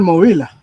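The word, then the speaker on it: Mobila: La correcta es en español Movila.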